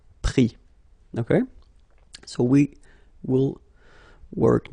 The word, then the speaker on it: pris: Same thing here, final S not pronounced, so prendre, pris.